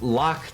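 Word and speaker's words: Lachhh: whatnot, is something called Lock Tools. And it's not spelled like lock as in the like the L-O-C-K lock. It's spelled a little bit differently. L-A-C-H-H-H.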